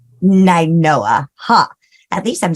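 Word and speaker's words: Nainoa: Make sure you do Scott at Am I pronouncing that right? It's Ninoa. Ninoa, huh?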